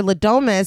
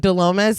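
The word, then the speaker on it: Le Domas: Also, super quick, their name is Ladomas, but I keep almost saying Delomas. And so if I say Delomas, no, I didn't. Okay, their name is Ladomas.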